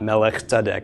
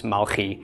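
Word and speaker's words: מַלְכִּי: yes yes it is in fact Mulkey it's not melech it's Malky that is how it's pronounced yeah the King James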